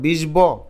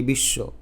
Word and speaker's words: বিশ্ব: ভুলে গেলে তত টেনশন করার কিছু নাই এটার উচ্চারণ কি বলো বিষব নাকি বিশ্ব যেহেতু তালবসের নিচে ব আছে তার মানে উচ্চারণ